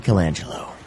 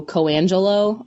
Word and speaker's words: Colangelo: A lot of people will drop the L and just go Coangelo. I'm like, there's an L there.